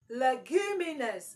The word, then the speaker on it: leguminous: here is luminus luminus leguminous leguminous is an adjective okay it is an adjective and the stress must be on the first syllable leguminous is what is